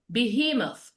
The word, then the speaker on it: behemoth: Then uh behemoth. Behemoth. Where do you think the stress fall in behemoth? Middle. Behemoth. Middle. In the middle.